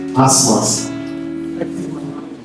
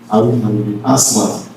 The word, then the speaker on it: ASMAS: Shall we take pronouncing? Asmas. Asmas.